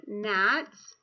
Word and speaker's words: gnat: little gnat flying around if you see a GN together you're only gonna hear that n sound so the G like in the word gnat you write that down the G is silent silent G if not